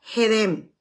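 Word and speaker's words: קֶדֶם: La palabra oriente en el hebreo se escribe kedem, pero se pronuncia hedem, que significa, escuche bien, antaño, tiempo antiguo.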